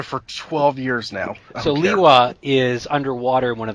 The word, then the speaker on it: Lewa: Yeah, because he got a name pronunciation change. He is Lewa now.